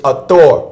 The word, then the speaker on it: Hathor: The H is silent, so it's Hathor or ether.